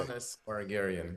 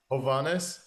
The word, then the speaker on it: Hovanes Margarian: Hovanes Margarian. Good morning. I say it again. Hovanes.